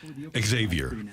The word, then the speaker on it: Xavier: the way according to baseball reference he does pronounce his name Xavier I I put that on there for this